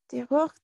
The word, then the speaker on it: des autres: Des autres. Des autres. Des autres. Des autres. Des autres. Des autres. Le S final ne se prononce pas.